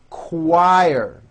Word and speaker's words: choir: Quebec quilt and also in the CH word choir very good okay here now is a paragraph